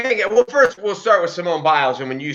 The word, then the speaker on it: Simone Biles: And then last in the story of bad news for Nike, I always say this name wrong, Simone Biles.